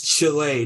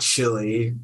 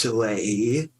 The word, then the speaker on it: Chile: towards Chile but um it's Chile not chili not like not not chili cheese dog it's Chile Chile there's a country in